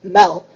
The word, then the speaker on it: mad: the mad symposium is mad actually pronounced mel means food in danish so it's like a